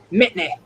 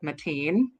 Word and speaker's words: Mitney: How do you say Mitney? Like Whitney. Yes, that's how I say it because I'm a troll. I've also heard some people pronounce it like Mateen.